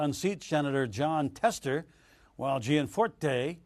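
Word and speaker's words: Gianforte: plus incumbent congressman Greg Jian fours and Rosendale was looking to unseat senator Jon Tester while G and Fort day that's how you say it it's challenging Democrat Kathleen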